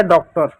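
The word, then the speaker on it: daughter: डी को डॉ लिख दो, ए यू को ओ की मात्रा लिख दो। डी का डॉ हो गया तो खत्म हो गया, ए यू को ओ की मात्रा लिख दिया। जी एच साइलेंट होगा, टी ई आर का टी का टॉ लिख दो, ई आर का रो लिख दो, हो गया डॉक्टर।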